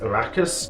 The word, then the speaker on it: Arrakis: The planet Dune's proper name is pronounced Arrakis.